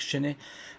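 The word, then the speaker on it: Chesney: Marc Chen écoutez-le sur YouTube he vous tapez Marc Chenet Chen mais ça s'écrit C H E S N E Y.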